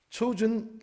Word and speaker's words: Chosen: 하지만 이거는 미국 사람 입장에서, 영국 사람 입장에서는 chosen입니다. 오늘 설교의 제목, 택하신, 택함 받은, 하나님으로부터 선택된이라는 뜻, chosen Christian College.